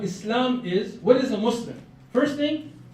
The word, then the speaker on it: Muslim: Because till today, every news outlet, Muslims, those Muslims, come on, man, just get this right. Muslim, it's not that hard. Muslim. 2 syllables, right? 2 syllables.